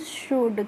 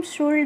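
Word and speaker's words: should: तो एस एच ओ यू एल डी को हम पढ़ते हैं फ्रेंड्स शुड। क्या पढ़ते हैं? शुड पढ़ते हैं। इसको हम शुल्ड नहीं पढ़ते।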